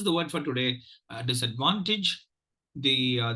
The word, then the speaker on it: disadvantage: uh disadvantage the uh there are two stress syllables the Prime Minister syllable is that the third syllable is a prime minister syllable and the first syllable is the secondary stress syllable uh sorry the third syllable is the prime ministers and the first level is secondary stress yeah so I thought